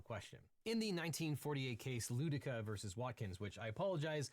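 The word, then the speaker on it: Ludecke: In the 1948 case Ludika versus Watkins, which I apologize, I previously pronounced that as Ludeki, but in the Ludika case, the Supreme Court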